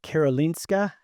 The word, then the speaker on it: Karolinska: Bernow trained at Karolinska, that's right?